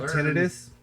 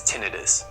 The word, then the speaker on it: tinnitus: The correct way to pronounce the word is tinnitus. The other way to pronounce the ringing in your ears is tinnitus. That uses the section itis. That typically refers to inflammation like laryngitis, inflammation of the throat.